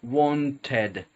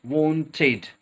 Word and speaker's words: wanted: finishing with Ed so people think that is one Ted but it's wanted in this situation to imagine it's a spell